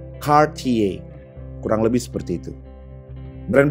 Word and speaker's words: Cartier: Biasanya disebut oleh orang-orang Indonesia sesimpel dibaca Cartier. Ternyata seharusnya adalah Cartier. Gue ulang, Cartier.